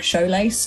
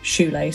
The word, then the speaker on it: shoelace: you read this one, you read it more like showlace, and I wanted it more like an ooh. But when you read shoelace later, you did read shoelace.